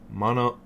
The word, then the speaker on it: Monongahela: The Ohio, the Allegheny, and the Monongahela.